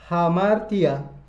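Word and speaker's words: ἁμαρτία: Kata dosa diucapkan hamartia dalam bahasa Yunani yang berarti meleset dari target.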